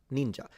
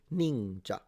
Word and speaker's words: ninja: because your pronunciation yeah that's how it's pronounced ninja and it's a falling pitch ninja.